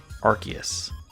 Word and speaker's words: Arceus: But it's actually Arceus.